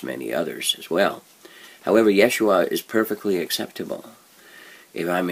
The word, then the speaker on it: Yeshua: Or if you want to pronounce it in Hebrew, it would be Yeshua. And that is a common name that is used in Israel by Jews concerning Jesus, Yeshua.